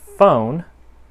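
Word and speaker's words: Foehn: have is a project i believe it's pronounced phone spelled f-o-e-h-n and this is hidden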